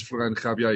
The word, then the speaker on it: Florijn de Graaf: um my name is floran Javier you presented it you pronounced it correctly and I'm an engineer specialized